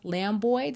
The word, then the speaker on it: Lambooy: Tonight, I have a special guest with us, Lamboy. Did I pronounce that correctly?